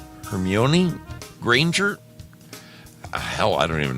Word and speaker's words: Hermione: Is it C, and I know I'm going to butcher this name, Hermione Granger?